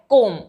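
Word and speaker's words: comb: पढ़िए सी ओ एम बी तो ये है कोम यहां पे आप देखिए कि एम के बाद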